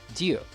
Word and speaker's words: Ryu: When I was doing some research, it looks like actually the closest way that I can pronounce his name to the way they would pronounce it in Japan would be Ryu.